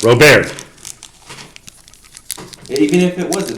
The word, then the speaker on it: Robert: Stephen Colbert, Robert. He's French. It's okay to be wrong, Gary. The T is silent. Robert.